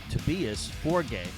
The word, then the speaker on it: Tobias Forge: on YouTube is that Tobias actually pronounces his name Tobias Forg, but he just goes with Tobias Forge cuz it's easier here in the United States for Americans to pronounce it that way.